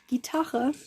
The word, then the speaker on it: Gitarre: Because you know, in German it's not guitar, it's Gitarre. And at home we just say Gitarre.